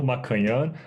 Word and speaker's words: Maccagnan: type my name and my name is pronounced makan but it's a very weird spelling and I'm sticking with